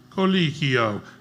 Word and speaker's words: Colicchio: Say Pinocchio. Pinocchio. Say Colicchio. Colicchio. There you go, Victor Colicchio.